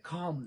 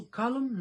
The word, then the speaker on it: calm: د موږ تاسو کالم نسو ویلی. صحیح سو؟ په قانون خو انشاءالله پوه سوئ. کله هم چې په منځ د کلمه کې د ال توري څخه شاتنی توري ده یا ای یا ای یا یو، نو موږ تاسو بیا په دې ځای کې دغه ال نه تلفظ کوو. نو دلته موږ تاسو وایي کام.